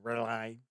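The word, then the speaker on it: R'lyeh: So for an example, like Great Cthulhu lies sleeping in the city of Rai, or some people pronounce it different ways. I always say Rai, sleeping, waiting to be, you know, reawakened to rise once again.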